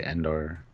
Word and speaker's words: Endor: I don't say Indoor. I say Endor. I say Intar, which is a weapon in Stargate. But if we said it too fast, maybe it sounded like Endor.